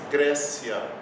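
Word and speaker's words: Graecia: AE pronuncia-se como E. Então aqui nós lemos Grécia. Grécia mesmo, normal.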